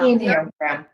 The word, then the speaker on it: Enneagram: Is that how you pronounced it? Enneagram? Right, Enneagram, yeah. Enneagram.